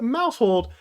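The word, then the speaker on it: Maushold: into last video's question this Pokemon name rhymes with household who is this Pokemon if you like our commenter link tokens you went ahead and guessed Mouse hold Mouse pretty cool it's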